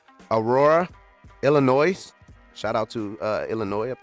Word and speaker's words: Illinois: All right, Aurora, Illinois. Shout out to Illinois up there. Yeah, that's a sign. Yeah, the S is silent.